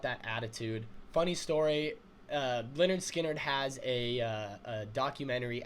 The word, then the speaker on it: Lynyrd Skynyrd: was first getting started you know they released pronounced leonard skinner they're they're kind of taken over like they